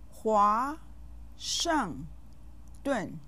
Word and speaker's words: 华盛顿: 华盛顿. Do you know who or what this might be? I think you know. Here are the syllables. 华 has a 2nd tone. It has a compound final.